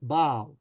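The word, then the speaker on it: Basle: So I assume in German it's spelled Basel, and in French it's B-A-S-L-E, and it's pronounced Baal, okay?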